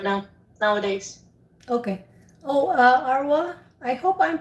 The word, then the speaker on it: Arwa: only your name but is it correct when i say arawa yep okay so one more